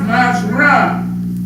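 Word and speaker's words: מעשר: Means 10 in the Hebrew, and it's pronounced Ma'asharah.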